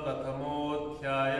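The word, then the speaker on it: प्रथमोऽध्यायः: अथ प्रथमोध्याय अथ प्रथमोध्याय बघा प्रथमो आणि अध्यायाच्या मध्ये तो एक साइन लागलेला आहे एसआर तो अ लपून गेलाय ठीक आहे ओकार मध्ये अ लपून गेलाय तर प्रथमो मोठा उच्चारण करायचा ध्याय असं उच्चारण अ खाऊन टाकायचं त्याचा हे करून टाकायचं तर अथ प्रथमोध्याय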